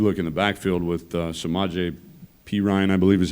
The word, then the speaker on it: Samaje Perine: But you look in the backfield with Samaje Perine, I believe is how you pronounce it, and Joe Mixon.